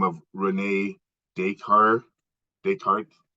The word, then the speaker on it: Descartes: by a philosopher by the name of Renee deshar Descartes it's it's spelled d-e-s-c-a-r-t-e-s and uh he wrote about dualism